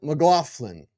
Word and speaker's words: McLaughlin: Jaleel McLaughlin. Jaleel McLaughlin. No G. It rolls off the tongue. Soft G. No G.